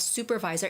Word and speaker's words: supervisor: would eat soup soup the sound of the first sound of supervisor is very similar to the word soup Sue Sue like you're suing somebody legally somebody's like like you know has done harm to you then you would sue somebody right Sue just like the name of a girl Sue Sue The Curly Sue supervisor supervisor so Korean students